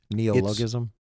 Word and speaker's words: neologism: Neologism?